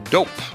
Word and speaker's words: Doughp: and fearless leader at dope that's spelled D o u g HP it's a cookie dough